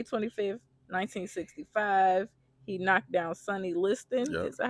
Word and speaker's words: Sonny Liston: He knocked down Sonny Liston.